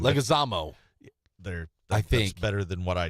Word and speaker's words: Leguizamo: John Leguizamo? How do you say that? I don't know how to say his last name. Leguizamo.